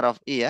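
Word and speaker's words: رفع: Kama annaha sababun fi maghfirati dunubi wa, tadi bacanya raf'u kalau nggak salah ya. Rofi. Harusnya raf'i ya.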